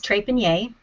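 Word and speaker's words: Trépanier: of depopulation um so my last name is Trey panier it doesn't sound like it looks but one pronounced correctly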